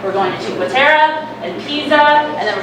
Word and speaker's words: Cinque Terre: Eric told me to say it right, Cinque Terre. We're going to Cinque Terre and Pisa, and then we're going to go